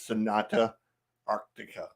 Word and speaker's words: Sonata Arctica: go um I'm with chansy and the correct pronunciation is Sonata Arctica I knew I was gonna